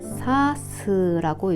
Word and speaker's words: 差す: 이 아이를 훈독으로 읽을 때는 사스라고 읽고요.